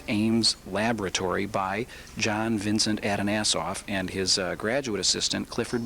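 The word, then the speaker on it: Atanasoff: And Kai, we're standing in front of the Adanasoff Berry computer, or the ABC computer.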